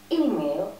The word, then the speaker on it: email: Очень распространенная ошибка, очень многие ставят ударение на следующий слог. Email, очень внимательно, в начале.